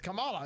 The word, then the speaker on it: Kamala: no respect you even you said her name wrong no one even says her name right it's Kamala isn't it or it's it is